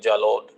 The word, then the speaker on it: Jalore: And the last conquest of Alauddin was Jalore. 1311, again in Rajasthan. Jalore in Rajasthan. Jalore. Jalod. Rajasthani pronunciation, it will go like Jalod.